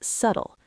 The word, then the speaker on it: subtle: Key number one, the pronunciation is subtle. Two syllables with the stress on the first. It rhymes with shuttle.